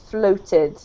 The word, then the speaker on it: floated: And the other one is a much more O. Floated.